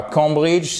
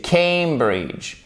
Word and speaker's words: Cambridge: Et c'est pas Cambridge, c'est Cambridge. Ça, c'est une diphtongue en phonétique, c'est le A, comme le A de oseille. OK? Cambridge Dictionary.